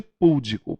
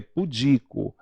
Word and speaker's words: pudico: uma boa pronúncia né E nada de pudico porque é pudico nada de recorde é recorde Então precisamos pronunciar bem